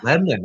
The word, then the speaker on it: Lebanon: Boro friend or Lebanon friend Lebanon yeah Lebon okay all right so you even say Lebanon the right way now Lebon what did I used